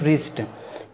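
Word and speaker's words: wrist: ear drum कलाई रिस्ट देखिए यहां पर डब्लू हमारा साइलेंट इस लेस को करेंगे हम रिस्ट कान यार की कहानी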